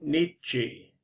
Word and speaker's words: Nietzsche: And I thought what I would do is cover Friedrich Nietzsche. You pronounce his name like 2 syllables. The first one is neat, and the second one is chi, Nietzsche.